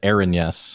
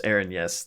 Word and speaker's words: Erinyes: I pronounce it Erinyes. Erinyes, okay. Which might be wrong, but I just do Aaron and yes, because that's how you spell it.